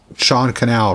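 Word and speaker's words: Sean Cannell: Like I think a lot of people who started have watched Think Media and Sean Canal, whatever, Sean Canal rhymes with channel.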